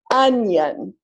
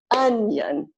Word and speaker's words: onion: Okay, we'll clap 1, 2 syllables, stress on the first syllable. Onion. If I clap it the other way, onion, sounds wrong. No, stress on the first syllable. Onion.